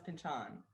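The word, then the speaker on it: Pynchon: name when he has that cameo on the simpsons i believe he says pinchon but you said there are things out there saying it was pinchin or i feel like that's how you were pronouncing it before i i i barely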